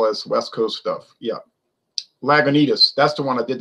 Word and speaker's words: Lagunitas: Lagunitas. That's the one I did the rant and rave about. Lagunitas. And I notice a lot of people can't pronounce that word. They say Lagunitas.